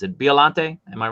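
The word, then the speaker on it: Biollante: And this is the I always mispronounce it. Biolante, am I right? Biolante, yeah.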